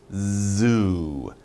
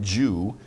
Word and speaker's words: zoo: When you say this word, pronunciation, z, zoo, zoo, not Jew, zoo, z. You get some vibration. So make your mouth wide like that and make your tongue vibrate, zoo.